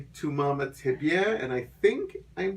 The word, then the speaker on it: Mamá También: it's what I think it's pronounced like et tu mama tambien baby we're Canadian so